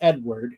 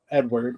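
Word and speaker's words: Eadweard: Uh it's a weird spelling, but it's pronounced Edward. It's E A D W E A R D Edward, which was a about a guy who did a lot of uh nude photography.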